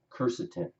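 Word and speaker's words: quercetin: so there's no confusion Kirsten is actually spelled qu e R CET is Kirsten that's always pronounced topic number two whether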